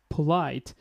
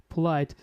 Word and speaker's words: polite: I didn't actually get it because he need to actually, you know, give here some stress to pronounce this word. Like it is starting with aspirated sound. So, how can actually avoid this one? Polite, polite.